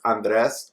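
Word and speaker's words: Andrés: My name's uh pronounced Andres or Andy. Uh, if uh it's easier. I always go by Andy because Yeah. people uh don't want to have to roll their RS and do do all that craziness.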